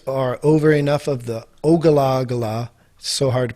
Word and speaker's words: Ogallala: name the rights are over enough of the ogallala so hard to pronounce o-g-a-l-l-a-l-a aquifer this dude had 65 billion